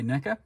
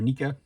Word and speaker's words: NECA: Dungeons and Dragons line by Neca or NAA whichever way you want to pronounce it zarak is one of